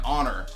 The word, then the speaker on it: honor: It's crazy how honest and honor both have silent letters in them. Spin it. I didn't even think about that. No one does. But honest and honor, you don't even pronounce the H's.